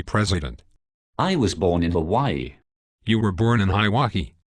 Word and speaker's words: Hawaii: I was born in Hawaii. You were born in Hawaii. That is overseas. You gotta be born in America to be president, boy. It is pronounced Hawaii.